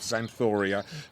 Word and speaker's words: Xanthoria: really have common Nam so it's spelled with an X would you believe to start it off zanoria apparently but it's a